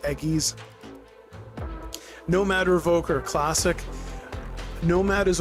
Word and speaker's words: Aegis: Again, I'm not a It's a Greek word, so like there's there's very rarely a hard G sound in Greek. It's a not a G, but it's anglicized. So I'm used to people saying Aegis or Aegis instead of Eggies.